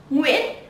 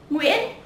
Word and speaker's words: Nguyễn: Let's see, the first common surname is Nguyễn, Nguyễn. Yeah, Nguyễn.